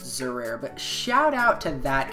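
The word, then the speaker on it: Xerair: I'm pretty sure it's pronounced Zerare, but shout out to that guy right there.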